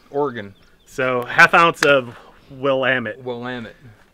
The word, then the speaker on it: Willamette: so 1/2 ounce of Willamette will land it rhymes with damn it will am it that's fine toss this